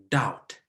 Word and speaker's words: doubt: b we say sorted so in summary we see debt and we say doubt and we say sorta we don't pronounce the b's in these three words thank you for having